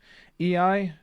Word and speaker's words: Iai: EI, yeah. So it's like this. It's the quick draw style, right? That's what it's called. Though it's typically spelt IAI, from what I remember.